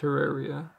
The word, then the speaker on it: Terraria: Terraria, it's pronounced Terraria.